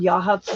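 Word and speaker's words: Yachats: really liked those areas got to Yahhatz which is spelled yakits y a c h a t-s called yahuts though Um, yes.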